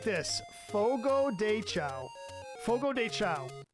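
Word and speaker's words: Fogo de Chão: yeah you got to say it like this Fogo cha Fogo dea it's a Brazilian steakhouse oh dude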